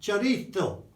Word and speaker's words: chorizo: spent time in Spain, of saying chorizo. Chorizo. It is not chorizo, Paul. Chorizo. Or, if you prefer it, chorizo. Not chorizo or chorizo, that's Italian.